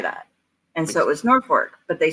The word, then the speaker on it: Norfolk: the few thing like we have Norfork which is spelled Norfolk because the people who are